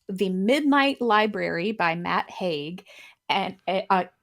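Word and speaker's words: Haig: Midnight Library by Matt Hague and I I think that's how you pronounce his last name it's h-a-i-g and it's narrated by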